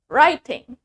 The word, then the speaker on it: writing: We have writing. Writing. Remember, the W is silent.